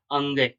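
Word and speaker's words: ङ: के, ख, ग, ग, अंगे। इसको अंगे बोलते हैं। कई छात्र इसको हड़े बोलते हैं तो ये इसका उच्चारण गलत है।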